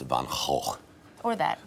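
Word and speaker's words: Van Gogh: the paint the way van go did to recreate the sunflower art in Dutch it's pronounced van or that all right uh what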